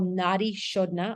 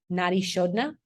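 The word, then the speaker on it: nadi shodhana: bastrika which is a fast belly breath um it's spelled b-h-a-s-t-r-i-k-a bastrika um and that's a yogi breath then there's something called Nadi shodna also Yogi breath which is a slower breathing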